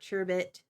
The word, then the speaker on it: sherbet: as well as orange sherbert I don't know why I just like it yeah Sherbert or shh there there's another way of pronouncing it Sherbert sherbet yeah I also like Boba